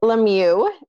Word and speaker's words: Lemieux: I'm Lemieux. I'll pronounce my last name for all of you